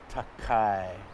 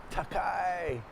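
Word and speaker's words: 高い: meaning of that kanji is tall and it's pronounced takai takai it looks like a tall building it's easy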